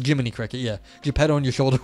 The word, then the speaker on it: Jiminy Cricket: their streams and they were saying it wrong on purpose I think or because Li of P said it wrong so it's Jiminy Cricket yeah jet on your